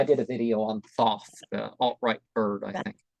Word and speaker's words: Thoth: in its Authority but Thoth you don't pronounce it as thought of them ancient Egyptian that's to hold the you know um I I did a video on Thoth uh alt-right bird I